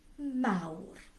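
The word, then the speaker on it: mawr: ow ow now then in welsh we pronounce the final r so big is you try it mao the word for small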